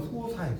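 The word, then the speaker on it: 疏食: 예, 이게 식의 밥식자인데, 그러니까 이걸 소식이라고 읽으면 무식하다고 해요. 이건 소식이 아니에요. 자, 이게 보세요. 이 글자는 자 1번 먹을 할 때는 식으로 읽어. 먹. 2번 밥이라고 할 때는요 사라고 읽어. 그럼 이게 밥이죠. 꽁보리밥은 소사예요. 소사.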